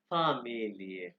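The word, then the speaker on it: Familie: अच्छा, आज का जो हमारा थेमा है यानी टॉपिक है, वो है फामिलिए, फामिलिए, प्रोनाउंसिएशन पे आपने गौर करना है।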